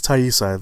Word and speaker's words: Taissa: everyone always mispronounce donate I think it is tie you sighs I think I've her